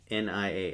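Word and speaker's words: nias: So, n i a s we pronounce nia.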